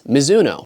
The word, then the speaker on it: Mizuno: I post about a miso shoe I get a comment saying you're saying the brand name wrong and that it's Mizuno just a friendly reminder that this is actually a Japanese brand and although the brand